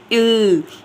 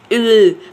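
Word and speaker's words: Öl: उ जैसे हम इसको जब वर्ड को प्रोनाउंस करेंगे तो कैसे बोलते हैं? इल इल। तो यानी आपकी ना मतलब इल जैसे इ की जो साउंड है ना वो आ रही होती है इल इल ऐसे करके।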